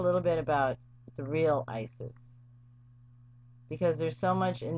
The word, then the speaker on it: Isis: The original Egyptian pronunciation is more like Aset or Iset.